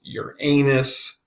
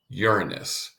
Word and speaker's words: Uranus: terms of how you pronounce this is not pronounced your anus but pronounced Uranus so if you want to practice to be